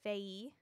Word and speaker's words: Faye: Which on the interview, they pronounced it Faye.